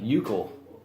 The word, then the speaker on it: Keuchel: Is the K silent? The K is silent. Oh, like euchre. It's like euchel.